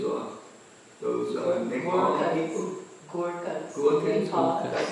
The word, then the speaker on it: Gorkha: Gorkhas. Nepal. That's how you pronounce it?